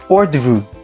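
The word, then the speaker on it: hors d'oeuvres: we have the or the room spells as h-o-r-s d-apostrophe o-e-u-v-r-e-s pronounced as ordu this course consisted of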